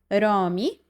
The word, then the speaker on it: Rami: Rami Rami, just roll the r a bit.